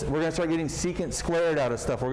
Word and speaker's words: secant: How do you pronounce it? This one? No, the other one, the middle one. Secant.